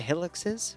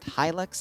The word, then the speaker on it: Hilux: guns nice two dishka helixes which is pronounced Hilux I just keep butchering it and two transport hiluxes